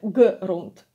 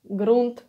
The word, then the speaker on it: грунт: And this one is strong г, like gates, but gates even stronger than in English. And it occurs quite rare in Ukrainian, but you need to pronounce it strongly.